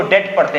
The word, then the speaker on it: debt: चीज बहुत कीमती है, ये जो DEBT लिखा गया है, इसमें आप बी साइलेंट करते हैं, जस्ट लाइक जैसे डाउट में हम डाउट नहीं पढ़ते हैं, वैसे इसमें डेप्ट नहीं पढ़ते हैं, इसको डेट पढ़ते हैं।